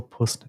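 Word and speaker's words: puisne: am conscious of the reality that a single puss judge and this P I had to look it up because it's spelled p i s NE and it basically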